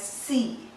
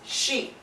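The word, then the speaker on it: し: However, there is an exception in this line wherein this is not pronounced as si, but it is pronounced as she.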